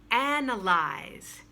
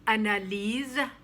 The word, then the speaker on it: analyze: that way and then analyze don't say analise say analyze i'm going to analyze